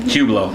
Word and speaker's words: Hublot: um your Hublot how do you say it Hublot yeah yeah Hublot online was fire um the